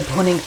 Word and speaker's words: bhuning: It's not with a P, it's with a B, so it's bhuning. I know it might sound as if I'm pronouncing it with the P, but it's not, it's the B.